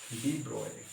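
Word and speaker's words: de Broglie: अब इन the same way एक scientist आए थे बाद में जाके, और साइंटिस्ट का नाम था आपका डी ब्रोगली।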